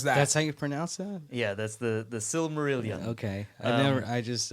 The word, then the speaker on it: Silmarillion: and that what is that that's how you pronounce that yeah that's the the silmarillion okay i never i just like just call